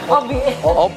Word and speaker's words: OPBHIE: Panggilan kecil. Bacanya Obi.